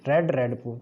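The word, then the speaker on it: read: यानी सेकंड और third form इसकी रेड रेड पढ़ी जाती है, बाकी रीड फर्स्ट फॉर्म होती है।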